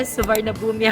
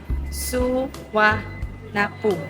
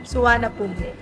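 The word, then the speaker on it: สุวรรณภูมิ: So dati suarnabumi ako ng suarnabumi pero suwa na poom. Suanapum ang tamang pronunciation.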